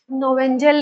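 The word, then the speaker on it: Knoevenagel: Reaction number third reaction number third के silent है। नो क्या पढ़े हो इसको? नो वेनेजल रिएक्शन के एन ओ ई वी ई एन एन ए जी ई एल नोवेंजल reaction नोवेंज पढ़ो इसको क्या पढ़ोगे ये साइलेंट है ठीक है बाद में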